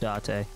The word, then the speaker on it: Date: job special agent zate okay so it is pronounced date the eye of a dead woman is there